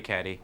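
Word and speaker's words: Cady: Where are you, Caddyy? That's me. It's pronounced like Katie.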